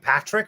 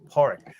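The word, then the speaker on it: Pádraic: name again Park okay so it's not like Patrick okay horic and Siobhan is so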